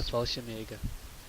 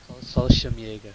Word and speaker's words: Fallschirmjäger: I'll do the Fallschirmjäger. Hey. Or How did you say that again? I always wondered how that was pronounced. Fallschirmjäger. Fallschirmjäger. I always pronounced it Fallschirmjäger.